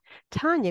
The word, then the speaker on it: Tanya: actually pronounced Tan t like Tan on the beach in case you ever